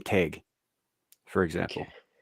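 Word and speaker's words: Tadhg: Like you take take like an old Gaelic man's name, Teg, for example. Okay. Teg is spelled Tadgh.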